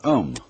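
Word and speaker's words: Aum: That sound is used because if you spell it out, A-U-M, it runs from the back of your throat to your lips, and therefore it contains the whole range of the voice.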